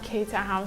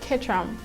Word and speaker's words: Caterham: currently they call it ketranham kid tram not caterham so i've been pronouncing that wrongly guys i've been pronouncing it so wrongly so it's called ketram and i don't know most of most of